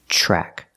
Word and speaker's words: track: lost track the TRN track is pronounced with the CH sound like chicken track lost track he lost